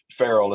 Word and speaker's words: Farriel: his middle name was Farrell f-a-r-r-i-e-l is how we spell it uh Farrell is how we pronounce it that's my dad's middle